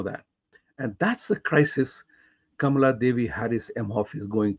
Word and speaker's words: Kamala: Nothing wrong about her name being Kamala, but she doesn't call herself Kamala the way it ought to be pronounced, whether you are a Tamilian or a Sanskrit knowing Indian. It is Kamala.